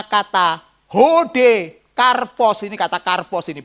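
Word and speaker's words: καρπός: kasih Mengapa karena kata hode karpos ini kata karpos ini bacanya karpos yang modelnya kayak eh apa model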